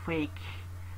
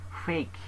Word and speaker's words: phage: Nah, nanti kita pecah ya, ada namanya autophage, dari kata fake. Fake, bacanya fake ya, nggak macam-macam ya.